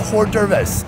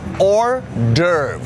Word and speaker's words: hors d'oeuvres: Like a hors d'oeuvres. Hors d'oeuvres. Is it singular? There is an S, but the S is silent.